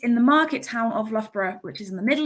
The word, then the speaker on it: Loughborough: You have the letters O, U, G, and H twice, pronounced in different ways. So Loughborough is pronounced L-U-F-B-R-A-H, Loughborough.